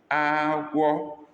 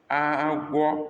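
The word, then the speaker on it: agwọ: Number 12, agua, agua, high, high, snake. Agua, snake.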